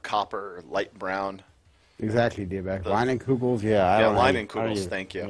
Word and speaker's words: Leinenkugel: Leinenkugel. Okay, that's it. That's how you pronounce it.